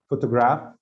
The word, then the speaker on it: photograph: differences in pronunciation between photograph photographer the stress the stress what is the stress in the first word photograph i think in the first syllable and where it is